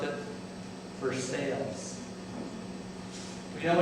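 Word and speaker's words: Versailles: signed very prestigious but folks there in harisburg pronounce it for sales we know it's Genoa Italy but they pronounce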